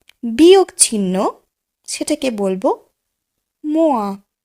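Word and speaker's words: moins: চলুন দেখে নিই গাণিতিক চিহ্নগুলির ফরাসি উচ্চারণ। প্রথমেই দেখব যোগ চিহ্ন, সেটিকে আমরা বলবো প্লুস। বিয়োগ চিহ্ন, সেটাকে বলবো মোয়া মোয়া।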